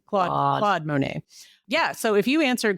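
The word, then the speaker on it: Monet: rhymes with show sh does that help it rhymes with totalan Mo Monae Monae oh of course Monae but him and I have a thing where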